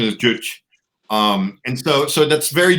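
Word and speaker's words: Juche: North Korea right very very do CH not juice a Jewish ditch okay yeah I just I found that out while we were in between break yeah pronunciation is Jewish and so so that's very Jewish right like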